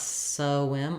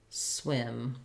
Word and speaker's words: swim: I would suggest is start with your W like whim feel how your mouth has to be that for that and then add your s back on when swim so I'm trying to